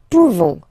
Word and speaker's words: pouvons: Pouvons, nous pouvons. Okay, you don't pronounce the final S.